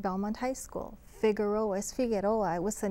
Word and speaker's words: Figueroa: Figueroa es Figueroa.